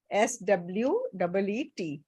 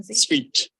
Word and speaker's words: suite: इट is just the same pronunciation of the word SWEET. Same pronunciation. Sweet.